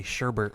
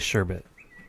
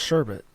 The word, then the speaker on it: sherbet: I figured out why people say sherbet instead of sherbet. It is sherbet. It's sherbet. Yeah.